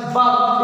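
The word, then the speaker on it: verb: Subject plus वर्ब, इसे हम वर्ब नहीं पढ़ेंगे, जो आर है इसमें वो साइलेंट है, इसे हम पढ़ेंगे वर्ब।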